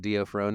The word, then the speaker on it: D'Onofrio: You know, it's both those characters, and now have some Vincent D'Onofrio and oh my God, old, Jason.